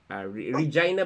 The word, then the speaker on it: Regina: They currently located dito sa Canada, sa Regina ba? Regina? Yeah. Yes. Regina? Mm-hmm. Yeah, Regina. Yun, Regina ang pronunciation pala niyan.